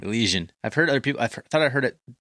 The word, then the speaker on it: Elysian: Yeah, it's Elysian. Elysian. I've heard other people. Thought I heard it pronounced differently when I watched a commercial or something.